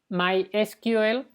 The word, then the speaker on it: MySQL: que es el caro my esquivel o mysql que es una forma rara de pronunciarlo pero que es común en los latinos yo normalmente la pronuncia así es una base de